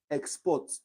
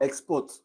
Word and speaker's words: export: For example, export. To export is a verb. The syllable, I mean, the stress is on the port, the second syllable, port.